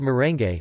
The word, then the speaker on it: merengue: Meringues are also present in the Philippines, due to the Spanish influence, but they are called merengue, with all the vowels pronounced.